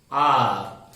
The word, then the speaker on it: hour: For example, R, the spelling is Hour. Here H is silent and the word R is beginning with vowel sound.